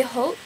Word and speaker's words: Haute: I don't know if it is or not, but it's number 660 Berry Haute, like Haute Couture.